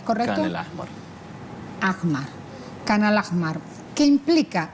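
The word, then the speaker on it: Khan al-Ahmar: esta aldea o este pueblo canal mar se pronuncia es correr en el amor ajmal khan al ahmar que implica y porque justamente pasa a ser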